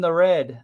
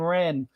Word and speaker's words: Wren: us and she was why are they calling her Sabine the red I'm like no no it's Sabine Wren oh yeah so I